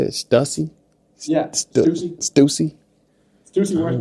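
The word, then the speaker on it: Stüssy: Stussy?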